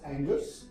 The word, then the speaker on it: Angers: And the people specifically, and where we went, it is spelled as Angers, Angers, but it's called Angers.